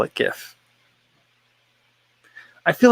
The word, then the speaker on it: GIF: Ben Browning says GIF or GIF pronunciation. I go with GIF. I know the person who invented the file says it's GIF, but I feel like it's like a literary work.